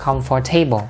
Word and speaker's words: comfortable: là mấy bạn nhớ, bạn không có đọc cái từ này là comfortable, đừng có nhìn mặt chữ mà đọc ha, không có đọc là comfortable. Âm O ở đây nó là âm câm ha, mình sẽ không đọc. Và chữ table bình thường á, khi ghép vào đây nó sẽ đổi âm, sẽ bị giảm nhấn thành là table.